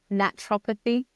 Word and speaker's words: naturopathy: I kind of like to say it how it looks, naturopathy.